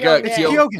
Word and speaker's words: Keoghan: Barry Keoghan? How do you say that? It's no. See now I can't. It's like Keoghan.